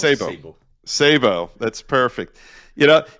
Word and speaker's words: Sebo: It's not Sebo, but Sebo. We pronounce Sebo.